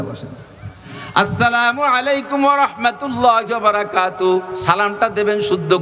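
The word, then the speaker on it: السلام عليكم: বিরক্ত হবেন না বসেন আসসালামু আলাইকুম ওয়ারাহমাতুল্লাহি ওয়াবারাকাতুহ সালামটা দেবেন শুদ্ধ কইরা আসসালামের লামটা যদি উচ্চারণ না হয় আসসালামু আলাইকুম যদি বলে নবী আলাইহিস সালাতু সালামকে ক্রিটিসাইজ কইরা কাফেররা আইসা আসসামু আলাইকুম বলতো।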